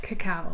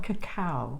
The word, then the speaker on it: cacao: I'd like to know is how do you pronounce that cacao cacao what is that so cacao is the raw